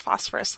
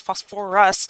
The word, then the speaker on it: phosphorous: kind of funny because it's not pronounced phosphorus like the element but it's phos for us acid and it loses its